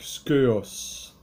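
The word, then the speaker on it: σκεῦος: Et instrument, ça vient du grec skeos. Skeos, qui veut dire instrument ou vase ou encore ustensile. Skeos, ça s'écrit Skeuos.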